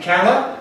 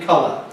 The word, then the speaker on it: colour: Is it colour or is it colour? Spelling is O, the first syllable I'm talking about. So it must be A. It cannot be A.